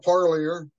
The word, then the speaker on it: Parlier: of in interviewing do you mind pronouncing your full name it's uh parier par yeah yes so Parlier and he